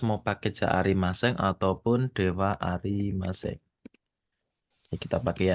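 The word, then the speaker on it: では: Dewa. Dewa. Oh, Ya, iya. wa-nya itu di atas ada tuh. D, H. Ini DH. De- Penulisannya DH, tapi bacanya Dewa.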